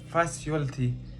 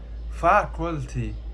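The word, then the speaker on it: faculty: مثلا كلمه الكلمه دي في ناس بتنطقها فاسيوالتي فاكيولتي انا سمعت ما فيش حد ناطقها دايما الناس بتنطقها غلط ف انت مثلا انت مثلا بتنطقها ايه انا هسيبك مثلا تقراها دلوقتي او تقول الكلمه دي هي الصح بتاعها فاكلتي فاكتي انت لما انت تروح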